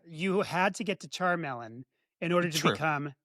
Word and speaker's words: Charmeleon: Charmelon, like what is that name?